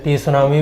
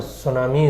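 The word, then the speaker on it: tsunami: नाम सुना होगा सुनामी कुछ-कुछ लोग उ से टी सुनामी भी बोलते हैं पर जापानीज लैंग्वेज थोड़ी अजीब है तो वहां टी साइलेंट रहता है और सुनामी इसे बोला जाता है जापान कहां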